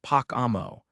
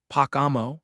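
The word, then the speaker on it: Pocomo: Avalon says, "It's pronounced Pacamo. It took me a long time to get it right, too. But yeah, that's how you say it, Pacamo.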